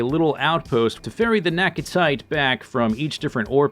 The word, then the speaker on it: Naquitite: I like to say Naquitite because it rhymes with appetite.